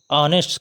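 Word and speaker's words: honest: क्योंकि इसका उच्चारण हम लोग ऑनेस्ट करते हैं, आ से, स्वर वावेल साउंड आ रही है, इसलिए हम लोग इसके पहले एन का प्रयोग करते हैं।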